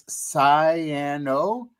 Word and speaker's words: cyanoacrylate: So Uh so um I don't know if you guys can see the actual word there, but I'm going to phonetically spell it spell it out. It's cyanoacrylate.